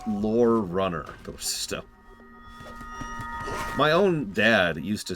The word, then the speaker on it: Lorerunner: that no no it's pronounced lore Runner my own dad used